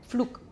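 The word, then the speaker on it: Pflug: And in this case, P is bilabial and F is labiodental, but they're very close. So, Flug.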